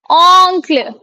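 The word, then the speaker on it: oncle: ऑन्क्ल।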